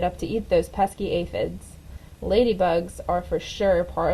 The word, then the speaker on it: aphids: It was a pretty sad day when the aphids, pronounced aphids, arrived.